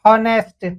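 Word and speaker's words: honest: यदि हमने इसे पढ़ दिया हॉनेस्ट, ह ए का प्रयोग कर देंगे, जबकि यहाँ पर साइलेंट है, यह यहाँ पर कंफ्यूजन है।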